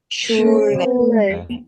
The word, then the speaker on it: Schule: Schule, 스쿨과 같은 어원으로 학교, 학파 이런 뜻이 되겠습니다.